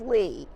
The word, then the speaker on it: Lea: So Lea, and it's L-E-A, pronounced Lee, like a cup of tea.